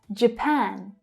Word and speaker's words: Japan: Again, we have the J consonant sound followed by the schwa, which tells us that the first syllable is unstressed. J, J, J. Japan. So that's the A as in apple. Strong vowel sound in the second syllable.